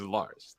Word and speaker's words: LRZ: Well, he's saying the correct way to pronounce LRZ is Lars. Yeah.